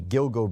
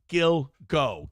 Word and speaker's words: Gilgo: It hits. G at the beginning of the first syllable, G at the beginning of the second syllable. Gilgo.